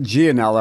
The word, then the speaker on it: Gialanella: My grandmother though on my dad's side always said it ganella.